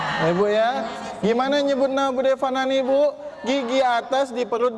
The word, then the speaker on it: Fanani: Nah, kalau yang orang Jawa Barat tuh Bude Panani. Yang lebih Jawa Barat dalam lagi Panani. Nah, Bude Panani gitu. Itu orang Jawa Barat tuh. Tapi kalau yang udah ngaji tajwid bacanya Bude Fanani. Nah, saya ulang-ulang nih Bu, karena ibu saya suka protes kalau dipanggil Panani. Fa kata. Apalagi ada murid ngajinya tuh. Bude Panani, fa, pakai fa. Gitu bukan?